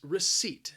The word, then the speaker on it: receipt: you've paid for something the word has two syllables and the stress is on that second syllable receipt now the spelling again just does not match up with the pronunciation there is a silent P in there you are not going to hear that P that second syllable just sounds like seat receipt if you go and